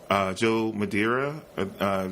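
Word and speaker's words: Joe Madureira: is Joe um I always have problems I'm pronouncing this everybody it is Jill Madeira Joe Mads he he had a brief sniper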